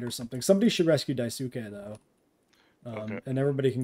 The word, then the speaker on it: Daisuke: You could exactly. You can say it like a real Japanese person, or put very strict emphasis on the individual syllables, like a fucking weeaboo.